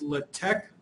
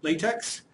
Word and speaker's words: LaTeX: um doing an introduction to latch notice I pronounced it as latch not lat latex it is actually pronounced latte uh I remember